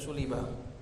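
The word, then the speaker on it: سُلِبَ: bacanya itu sulibah.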